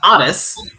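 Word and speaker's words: Aras: If anyone actually knows how to pronounce his name, it's pronounced Aris.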